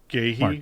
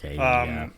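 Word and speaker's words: Guéhi: I think Kyle Walker started at center back, flanking Mark Gahey. I think is how you say his last name. Yeah, sorry, Mark Gahey.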